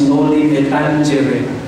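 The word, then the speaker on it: Noli me tangere: isinulat niya sa Noli By the way you pronounce that rightly as Noli metangere because it's a latin word no metangere okay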